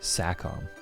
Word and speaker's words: Sacom: And yeah, their name is pronounced Sackom.